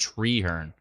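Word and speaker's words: Treherne: oh mirapolis I see tree her and that's what it is not Trey her just treehern we need an extra e in there Rick says what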